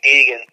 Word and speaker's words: Degen: Oh, yeah, it's pronounced Degen, so Degen.